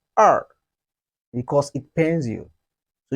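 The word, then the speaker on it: 二: to remember this number just like when you got a punch in your stomach you say er because it pains you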